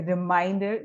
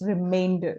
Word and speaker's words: remainder: Okay, Some students also say a reminder, but no, it's not reminder, it's remainder. Okay, so make sure you do the correct pronunciation.